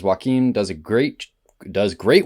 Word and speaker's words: Joaquin: know the performance by Jacqueline Phoenix how are we pronouncing that wow Joaquin yeah would you say